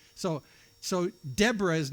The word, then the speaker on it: Deborah: Devra. Deborah.